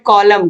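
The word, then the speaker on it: column: question number nine है which letter is silent in the word कॉलम कॉलम आप बोल के देखोगे तो आपको यन का उच्चारण नहीं दिखेगा उसमें यन क्या है साइलेंट है क्वेश्चन नंबर सटी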